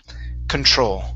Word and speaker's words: control: all right right here so the stress is at the end of the word huh control control okay very good